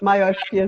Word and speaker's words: myopia: So this condition, as we know, is actually known as myopia, which is, did I pronounce that right? How do you pronounce it? Yes, you did a great job. Yep, myopia is good.